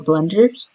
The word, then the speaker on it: Blender: So .blend is the actual file, that you use for blenders. So it's pronounced Blender as the software and you make renders on Blender.